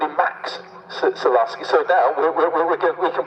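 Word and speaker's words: Maks: look at his name, it hasn't got an X in it, so how can you call him Max? Because it's a very unique spelling. It's spelled M-A-K-S, so let's go down that road. We'll go with Max Zalaski for the rest of the weekend, but then we've also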